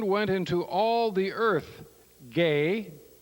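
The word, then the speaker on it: γῆ: into all the Earth gay g e which is pronounced gay in Greek and their words rata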